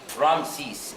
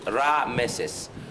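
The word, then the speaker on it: Ramesses: But the most important one, or the famous name, is the coronation one, Ramses. Actually, Ramses is a Greek pronunciation, but the actual pronunciation of Ramses is Ra-Meses.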